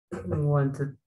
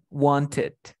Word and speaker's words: wanted: Por lo tanto, esta ed, ¿cómo se pronuncia? Como it. ¿Cómo se pronunciaría entonces esta palabra? Wanted. Wanted.